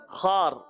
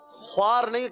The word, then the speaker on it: خوار: طفل شیر خار. خوار نہیں کہیں گے, خار. خوار بھی کہہ سکتے ہیں, تھوڑا سا ٹلٹ ہوگا, امالہ ہوگا اور پورا نہیں ہوگا.